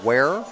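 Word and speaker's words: Ware: Um there's also a small town named where which is on uh on on a river W A R E.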